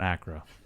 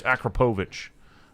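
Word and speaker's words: Akrapovič: know they pronounce it everyone just calls it Accra Accra MJ no it's Akrapovic it's it's a crap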